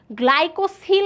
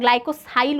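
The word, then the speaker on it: glycosyl: এই লিপিড এটাতে থাকে গ্লাইকোসিল আছে বইতে, এটা গ্লাইকোসাইল উচ্চারণ, বাট বই যা আছে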